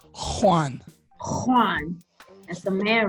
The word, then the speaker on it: Juan: No, it's Juan. Oh, okay. Juan. It's actually pronounced Juan.